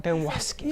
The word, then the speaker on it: Dewaskin: So I always think he adds an extra syllable to your name, your last name. How do you say it? I say Dewaskin.